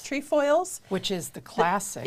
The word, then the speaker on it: Trefoils: Trefoils. Trefoils.